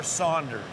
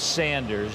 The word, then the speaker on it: Sanders: for me all right is it sanders or saunders it's sanders there is no u in it i was right you